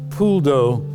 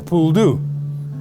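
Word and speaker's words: poule d'eau: Pulo which is that's how it's pronounced correctly in French has been bastardized to become a puldu and they are coups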